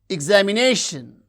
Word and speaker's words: examination: Examination, examination, examination. You can see the stress syllable is nei, that receives primary stress.